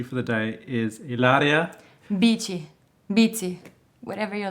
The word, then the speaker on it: Bici: raised in Italy and my surname actually it's pronounced BT but since I was born and raised there nobody ever pronounce it like the right way they would pronounce it which is a short